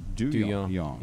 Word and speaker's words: Duhon: to somewhere called, and they do pronounce it, Duhon up there. Yeah. That's it. Gerald Duhon. That's the way you pronounce it.